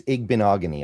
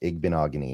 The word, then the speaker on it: Igbinoghene: Yeah, it's Igbinoghene. I always just remember it rhymes with mahogany, and then it kind of just flows. Igbinoghene.